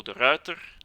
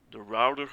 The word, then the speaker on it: De Ruiter: You have to pronounce it as it is written. But with the rolling R in English, yeah, the R is pronounced as a W, so the router or the router is, I think, the closest I can come. You know, a router like a network device.